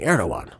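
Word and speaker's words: Erdoğan: And again, it comes in as uh you know, heightened inflammatory rhetoric from Turkish President Reep Adawan Erdogan, excuse me, Erdogan.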